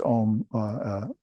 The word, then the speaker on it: Om: You see it pronounced Om, O-M, spelled that way. But the real correct spelling is A-U-M.